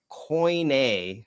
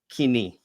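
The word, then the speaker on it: κοινή: Um what the what coin a when people say coin uh actually means sorry um coin is a linguistic term.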